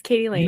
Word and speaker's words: Katie Lain: Yeah, it sounds as it's spelled. Yes, Katie Lane.